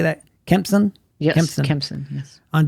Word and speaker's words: Kempson: Kempson?